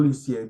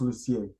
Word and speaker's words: Lucier: Kindle under Jim Edward Lucier or Lucier. Depends on if you're French or not. In French, it's it's pronounced Lucier.